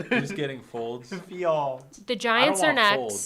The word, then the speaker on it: Fields: Oh, you pronounced it like he typed it. Folds. Who's getting Folds? Fields.